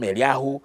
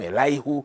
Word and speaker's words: Elihu: Now, this, the pronunciation differs. Some people call him Eliyahu, some people call him Elihu, some people call him Elihu, but it's a name.